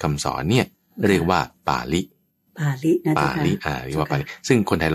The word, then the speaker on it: ปาฬิ: คัมภีร์ เขา เรียก ว่า ป่าริล ป ปลา สละอา แล้ว ก็ จ จุฬา สระ อี ไม่ ใช่ ล ลิง ด้วย นะ ออก เสียง ไม่ เหมือน กัน ที นี้ ใน รูป